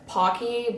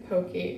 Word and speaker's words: Pocky: It is these, I know it's Pocky, but that feels awkward for my mouth to pronounce, so I'm just gonna say Pokey because that's just what I call it.